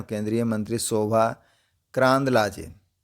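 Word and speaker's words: Karandlaje: बीजेपी एमपी and union minister Shobha, BJP एमपी हैं, बीजेपी के सांसद हैं, एंड यूनियन मिनिस्टर हैं, केंद्रीय मंत्री शोभा करांदलाजे, इसका प्रोनाउंसिएशन है करांदलाजे, वन ऑफ द सिग्नेटरीज,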